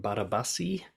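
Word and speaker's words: Barabási: Next one, number 8, is The Formula by Albert Laszlo Barabasi. That's almost certainly not how you pronounce his name because he's Polish, but that's close.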